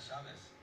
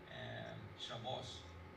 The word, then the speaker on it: Shabbos: I said, my name is not Shabbos. But he would pronounce it Ashkenazi style, and he was Hispanic speaking, but he would use the Ashkenazi or the Northern European Shabbos.